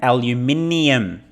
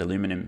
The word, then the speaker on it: aluminium: graphite, manganese, copper, and aluminium. See what I did there? I pronounced that word correctly. I don't know why it's called aluminum in the US.